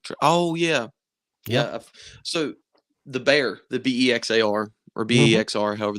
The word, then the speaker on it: Bexar: I guess it's technically Bear because that's how you pronounce the place in Texas.